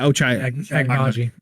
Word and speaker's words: Ochai Agbaji: I do not know how to pronounce this name. Yes. Kansas senior. Oh, was a senior. Ochai Yeah, Ochai Agbaji.